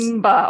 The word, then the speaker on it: Mba: Before we started this, you told me how to pronunciate it. And no worries. Mba, okay, we're getting it right.